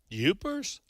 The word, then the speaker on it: Yoopers: Yoopers? Yeah, like Jeepers.